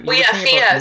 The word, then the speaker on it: Fía: Is it Fia? Yeah. How do you pronounce Fia, it?